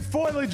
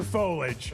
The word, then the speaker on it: foliage: Is it foilage or foliage? It's foliage. Foliage. It's three syllables.